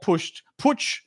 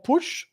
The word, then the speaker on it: putsch: I know the name, but I'm forgetting what the beer hall putsch.